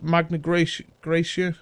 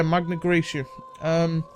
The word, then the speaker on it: Magna Graecia: collect the bottom of this, you know, the Magna Graecia, I think that's how you pronounce it. Yeah, Magna Graecia.